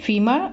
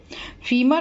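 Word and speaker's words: femur: का क्या नाम है तो इसका नाम है फीमर आधुनिक क्लास में क्वेश्चन भी किया था तो बच्चे गुस्सा ही बता रहे थे फॉर्मर होता है FD एम यूअर इसकी स्पेलिंग होती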